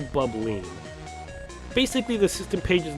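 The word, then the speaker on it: Bubbline: The spelling on this website makes it look like the weapon is pronounced bubble line when it's really the bubbling.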